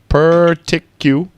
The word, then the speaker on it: particular: I say particular but according to the phonics here it's per person particular articulate yeah let's look at the phonics Donnie particular particular particular yeah again Donny uh yeah and the stress is on tick mimimallo particular particular